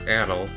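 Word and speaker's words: Adol: me as in the later games adel is pronounced Adil which is you know of the proper to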